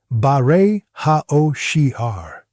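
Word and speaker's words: בורא העושר: The second code Abraham used is baray ha osher. Phonetically, baray ha osheha. In the holy tongue, this means creator of the wealth.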